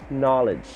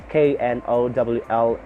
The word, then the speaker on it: knowledge: Okay, next we have 22, letter K, knowledge. Knowledge. The silent K at the first of that word. Knowledge.